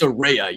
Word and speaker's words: Saraya: love that and um first of all it's Saraya you dumb idiot wait yeah yeah wait Michael